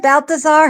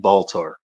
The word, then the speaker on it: Baltar: President Balthazar has got to stop. Balthazar? That is just weird. That is just weird. Hey, woman, that is Gaius fracking Baltar. You make sure you say his name correct.